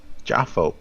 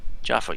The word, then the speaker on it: Jaffo: What is the actual pronunciation? Jaffo or Jafo? Jaffo. Jaffo. Yeah, I figured Jaffo.